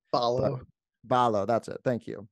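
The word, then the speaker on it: Ballo: How you pronounce his name? Balo.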